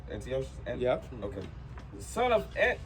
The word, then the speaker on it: Antiochus: Antiochus?